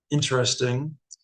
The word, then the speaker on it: interesting: Interesting. It's written as 4 syllables, interesting, but pronounced as though there were only 3.